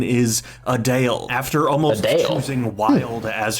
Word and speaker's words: Adele: feels like her name also apparently the correct pronunciation is adale after almost choosing wild as her stage surname